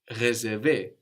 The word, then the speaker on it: réserver: And you can tell which E sound you need as the E of recommander, for example, is written with a normal E, like in je and like in le, just an E, where the E of réserver, réparer, is written with a little accent over it, a little dash going up from the E, which lets you know to pronounce a stronger E, réserver, réparer.